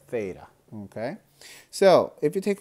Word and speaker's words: theta: can't find it well it's spelled it this way and we read it as theta okay so if you